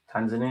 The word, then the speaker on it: Tanzania: Tanzania. That's how you pronounce it.